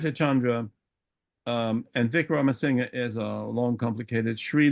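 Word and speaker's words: Wickramasinghe: but it's called pronounced Vic Roma singer you pronounce the last vowel and so I I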